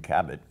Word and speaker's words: Kabat: multi-talented multifaceted a guest today her name's Cabot and welcome to the show thank you and pronounce my last name right so no like